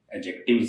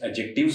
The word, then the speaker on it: adjective: ये जो डी है, इस डी का उच्चारण नहीं होता, डी साइलेंट है इसमें, एडजेक्टिव कहलाता है ये।